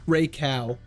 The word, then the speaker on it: Raikou: It's pronounced Raikou.